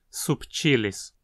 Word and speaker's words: subtilis: Bacillus subtilis é outra espécie importante desse gênero, que é um dos principais organismos modelos atuais entre as bactérias. Aqui a penúltima sílaba, ti, tem um i longo, e por isso leva o acento, subtilis.